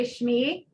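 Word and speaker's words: שמי: You probably say Shmi, Hashem. So Shem becomes in its base word Shim, Shmi, Shmech, your name.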